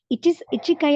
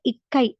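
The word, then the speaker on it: いっかい: ஒரு தடவை அப்படின்னு சொல்கிறதுக்கு வந்து இச்சிக்கை அப்படி இல்லை இக்கை அப்படின்னு வரும்.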